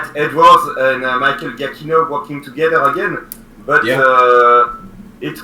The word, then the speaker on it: Giacchino: Don Davis did Jurassic Park 3, and Michael Galancho. I did not pronounce his name right, but that's how I say it. He did Jurassic World. All 3 Jurassic World. Yeah. And fun fact, Michael Giacchino already worked on Jurassic